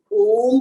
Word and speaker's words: ओम: मैं आपको भी करके दिखाऊंगी, आप चारों साउंड्स को क्लियर सुन पाएंगे, आ, ओ और म। और जब ये चारों साउंड, चारों वर्णों की साउंड जुड़ जाएगी तो ये बन जाएगा ओम का उच्चारण।